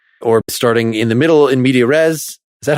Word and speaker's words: in media res: Is the lesson about starting a scene or starting in the middle in media res?